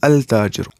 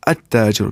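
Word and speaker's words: التاجر: If we will say at-tajiru, which means the merchant, we will not say al-tajiru, at-tajiru, because ta is huruf shamsi and lam will not be pronounced before it.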